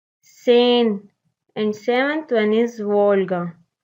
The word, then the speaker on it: Seine: Sixth one, Seine. Seine, and seventh one is Volga.